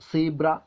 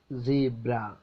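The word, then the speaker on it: zebra: but correct is സു സീബ്ര സീബ്ര നമ്മൾ എങ്ങനെയാ ഉച്ചരിക്കുക സീബ്ര ശരിക്കും എങ്ങനെയാണ് സീബ്ര ഫെയ്സ് അല്ലേ നമ്മൾ ഉച്ചരിക്കൽ ഫെയ്സ്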